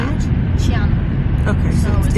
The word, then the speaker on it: Qianmen: Qianmen.